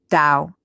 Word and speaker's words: Tao: adventurer exploration and creativity the Tao a Chinese word pronounced Dao is the dimensionless ground